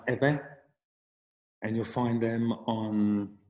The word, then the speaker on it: Ewe: have an epic figure so ewe pronounce eva and you'll find them